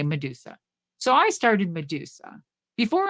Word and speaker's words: Madusa: MAD USA, made in the USA, Madusa. So it had to be symbolic and it had to be 3 syllables.